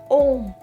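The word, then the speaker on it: homme: Ash is, the word for ash is om. We don't pronounce H in French, and H is silent in French.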